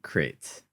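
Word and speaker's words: Crait: I know it's Crate with a C and crate dragons are with a K, but come on.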